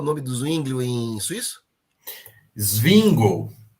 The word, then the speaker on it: Zwingli: do swingle em suíço swingle é a pronúncia lá o nome dele é singo eu fiquei impressionado Porque